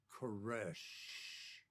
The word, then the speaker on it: Koresh: He said, it's like that last breath, the death knell. It's Koresh. And he drug it out.